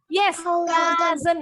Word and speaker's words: cousin: Number 6, your uncle and aunt's child is called your cousin. Yang ini bunyinya A. Cousin.